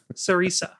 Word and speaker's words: Cereza: Sarisa.